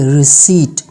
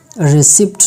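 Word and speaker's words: receipt: इसके बाद कुछ और वर्ड्स ऐसे भी हैं जो कि वहाँ पे पी साइलेंट होता है, जैसे कि रिसीट, रिसिप्ट नहीं रिसीट।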